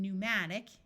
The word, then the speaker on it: pneumatic: type of flying dinosaur words starting with PN also have a silent P like in pneumatic E uses o and